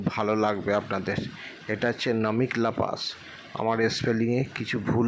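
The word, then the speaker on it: Namika La: আমরা পাশে উঠে এসেছি, আমি এই পাসটার নাম স্পেলিংটা উচ্চারণটা ভুল করছিলাম। এটা হচ্ছে নামিকলা পাস।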